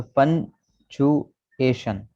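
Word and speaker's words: punctuation: ये टी और यू, इसकी आवाज़ जब मिलती है तो कभी कभी आवाज़ चे की बन रही है, टी यू से, तो पंचुएशन।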